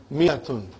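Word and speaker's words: مائة: Miyatun. I wrote alif, but I did not pronounce.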